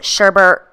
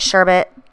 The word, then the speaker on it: sherbet: to be using sherbet i know some people pronounce it sherbert some apply it sherbet ice a sherbet whatever tomato tomahto right so using a long-haired